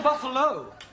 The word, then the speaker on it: Buffalo: a big bull oh Buffalo ter confused yeah word that endino like Buffalo or radio or vertigo you pronounce the O but when there is no o you don't add one understand yes sir I